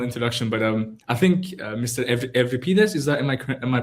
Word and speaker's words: Evriviades: Evripides, is that am I pronouncing it correctly? Evripides, yes, and without the Mr.